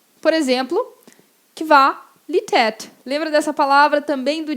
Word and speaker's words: Qualität: Por exemplo, Qualität. Lembra dessa palavra também do ditado? Qualidade, Qualität. No tät, eu tenho o A-Umlaut. Exatamente esse som de é. Qualität.